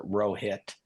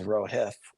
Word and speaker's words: Rohith: My law school roommate was his name was, I would pronounce it Rohit. I learned later it was Rohith.